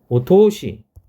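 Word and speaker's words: お通し: 있습니다 뭐가 등이 되냐 오토시 오토시라고 읽어요 오는 격식을 차리기 위해서 앞에 붙은 거죠 원래 토시에 토스는 토스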